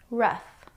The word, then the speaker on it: rough: The next two words I'm going to group with enough because they rhyme with enough. Tough. Tough. He likes to act tough. Rough.